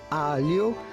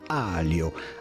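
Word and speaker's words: aglio: pronouncing it in italian alio which means garlic the g is silent so pretty much ignore it in this case and simply say alio alio e meaning end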